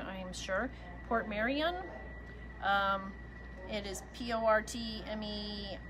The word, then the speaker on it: Portmeirion: She has this pattern of china, and it's, I'm going to pronounce it wrong, I'm sure, Port Marion.